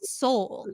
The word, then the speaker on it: Sol: we were like well what that spells is s o l but we'll just call it Soul like it'll singing out of love is s o l and we will pronounce it soul and as a collective